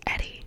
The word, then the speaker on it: Addie: In English, the name is pronounced Eddie, so please call me Eddie, my friend.